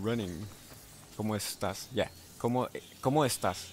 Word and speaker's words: estás: Yeah, ¿Cómo estás? Estás is like all together, like estás.